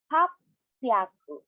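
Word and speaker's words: happyaku: Now, take note about the irregulars in hundreds, such as the sambyaku, ropyaku, and hapyaku. What happened here is 6 and 8 are contracted, and the he in hyaku is turned into p and b.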